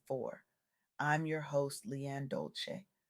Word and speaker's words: Dolce: I'm your host Leanne Dolce, pronounced dol-say, like sweet softness whispered in French.